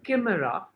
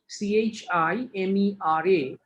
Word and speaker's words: chimera: First of all, you all need to know it is pronounced clearly as k, not ch. It is chimera. Chimera is pronounced as chimera.